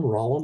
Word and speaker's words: Rollin: uh my name is Rand uh r o l l i n Rand rhymes with pollen uh I've been living